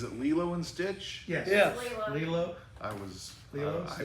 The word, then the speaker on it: Lilo: Lilo. I was I mispronounced it before.